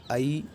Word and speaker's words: ऐ: तो ये जो हमारा ए है इसको हम लोग ए पढ़ते हैं, जबकि ये जो है ये आ और ई, अकार और इकार, इनसे मिलके बना हुआ है, इसलिए इसका जो वास्तविक उच्चारण होगा वो आई इस प्रकार का होगा। ऐसे ही ये बहुत सारे विद्यालयों में, ज़्यादातर विद्यालयों में गलत ही पढ़ाया जाता है। अकार और दीर्घ इकार से मिलके बना हुआ है, तो इसका उच्चारण होगा आई।